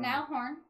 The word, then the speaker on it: Niall Horan: Niall Horan.